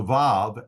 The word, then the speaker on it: vav: Both groups pronounce the Vav as a V sound.